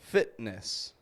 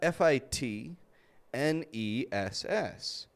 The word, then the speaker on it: fitness: However, some have it in the middle, such as fitness. Here we have Fitness, fitness. We don't pronounce that T, we just stop it.